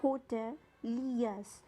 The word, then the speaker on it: hoteliers: हैं और यहाँ पे hoteliers की राइट प्रोनाउंसिएशन होगी hoteliers। यहाँ पे आर को आपको प्रोनाउंस नहीं करना है, तो इसका मतलब इसे आप कैसे प्रोनाउंस करेंगे? hoteliers।